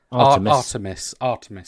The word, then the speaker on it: Artemis: PlayerUnknown, Brendan Green, he said, obviously the technology that they need for, again, I hate to pronounce it wrong, Artemis, is that right? Artemis, sorry, that's it.